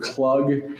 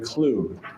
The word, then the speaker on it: Klug: with these prosecutors that you kept referring to him as Mr. Klug, as in rhymes with jug? Yes. And that's because you hadn't heard Mark say his name so much as you had read it and thought his name was Klug rather than Klug.